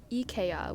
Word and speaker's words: IKEA: lot more common there they pronounce Ikea as EA which is apparently the correct Swedish pronunciation they also had these